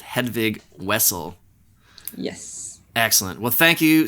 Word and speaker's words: Hedvig Wessel: And it's Wessel, right? With a W. W. Even though it's spelled with a V. So for North Americans, it's Hedvig Wessel.